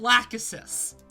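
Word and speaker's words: Lachesis: yes i'm sorry what yeah it's pronounced lack assist i love that i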